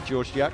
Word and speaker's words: Georgiak: Little trouble with the pronunciation, but I assure you it is Georgiak.